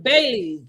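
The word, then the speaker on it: Baileys: So her dog's name is Bailey. So the next thing we see is Bailey's. With Bailey's. That's what I said. Bailey's. Mm-hmm. Bailey's. I'm saying the S.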